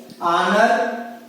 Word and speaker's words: honor: the words in which the initial H is silent so if you see examples here our honor honest man honorable so